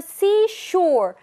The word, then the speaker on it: seashore: 자, 역시나 S 발음으로서 예쁘게 발음하는 걸 배워볼게요. I 앞에 이 발음보다는 옆에 이를 이렇게 끌어준다, 입술을 끌어준다는 느낌으로써 see, I see a sea down by the seashore. Shore, 입 모아주시고요. Seashore.